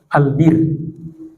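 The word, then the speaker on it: البِرّ: Jadi jangan dibaca albur berarti gandum. Jangan dibaca albar berarti daratan yang kering. Tapi yang bacanya benar adalah albir.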